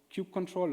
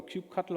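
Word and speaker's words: kubectl: kubernetes if you use Q control or Q Cutler over you want to pronounce it that actually works with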